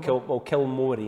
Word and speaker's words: Kilmory: Kilmory is how people pronounce it, Kilmory.